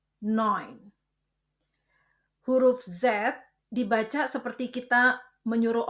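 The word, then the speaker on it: neun: Kombinasi huruf ch dibaca seperti dalam tenggorokan kh dan kombinasi huruf e u dibaca oi jadi sib akh noin.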